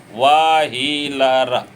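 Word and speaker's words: Wheeler: व्हीलर, व्हीलर, है ना। वह का उच्चारण हल्का करेंगे, व्हीलर।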